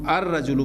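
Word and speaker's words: الرجل: या शमसी हर्फ है ये शमसी हर्फ है लिहाजा इसको हम अरजु पढ़ेंगे अलिफ लाम का लाम प्रोनाउंस नहीं होगा और डायरेक्ट व जो हमजा है व रा के साथ मिलेगा अरजु रजल के मानी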